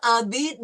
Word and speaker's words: habite: Elle habite dans une maison en briques. Elle habitait en maison et briques. Okay, no, we don't pronounce the H, right? It's silent.